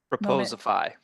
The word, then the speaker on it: Proposify: He's the VP of Sales at correct me, Daniel, can you pronounce this for me? I'm having a little brutal Proposify.